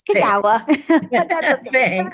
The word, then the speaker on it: Kagawa: I said it wrong today. It's Kagawa. One says Kagawa.